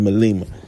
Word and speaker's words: Malema: Julia, I said Melma, but they pronounce it Malema.